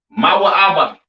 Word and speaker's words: Moab: have Moab all right Moab pronounced ma ABA right the children of